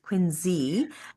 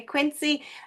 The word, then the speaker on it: Quincy: Um, Quincy. Quinzy is pronounced Quinzy.